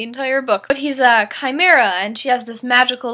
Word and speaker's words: chimera: looked up the pronunciation of and I've been pronouncing it wrong in my head the entire book but he's a chimera and she has this magical life where she